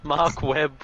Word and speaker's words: Mark Webb: but that was it mark webb rhymes with dark web then capcom show the